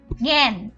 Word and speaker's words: জ্ঞান: গ এর সাথে আনুনাসিক যেমন জ্ঞান এর উচ্চারণটা হয় গ এর মত আনুনাসিক জ্ঞান আর যখন এই যুক্তবর্ণটি শব্দের